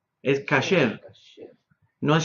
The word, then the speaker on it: kasher: Entonces, la palabra, por ejemplo, no es kosher, es kasher. No es Shabbos, es Shabbat. ¿Yeah? Entonces, esa pronunciación es la pronunciación Yiddish, la que comúnmente